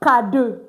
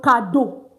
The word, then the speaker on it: cadeau: Because I emphasized in that video that when you have EAU, it's simply pronounced as O. Like O. O, O, O. So that's why I said le cadeau, meaning the gifts.